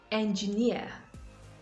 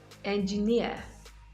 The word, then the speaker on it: engineer: stress is usually placed on the last syllable of words that end in eer engineer engineer volunteer volunteer pioneer pioneer